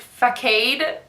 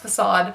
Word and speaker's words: facade: it through but for facade I was think fake aid and then I think facade and I think